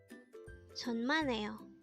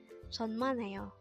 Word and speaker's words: 천만에요: 천만에요.